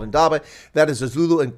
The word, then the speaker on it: indaba: I'll keep it simple now indaba has three syllables but it's almost an